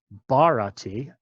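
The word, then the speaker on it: भरति: Sanskrit bharati, again with a puff of breath in for that first character.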